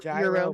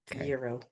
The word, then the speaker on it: gyro: Pretend there's no G. The G is silent. Euro.